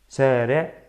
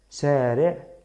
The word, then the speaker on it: شارع: شارع. شارع. شارع. Así se pronuncia. Es la letra shin. Con una fatha se pronuncia sha.